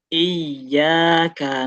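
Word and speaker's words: إِيَّاكَ: Karena kalau misalnya kita bacanya nggak ada tasdidnya di iyyaka ini fatal artinya.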